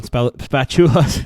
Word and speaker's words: Spachoolas: I'm going to say it wrong. Spachoolas. There you go. Sorry, I've been saying it wrong for days. No, it's right.